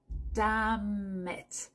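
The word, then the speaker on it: damn: zut bon tu peux dire dam tu fais la Lison entre le M et le i comme s'il y avait pas de N dam ou tu peux aussi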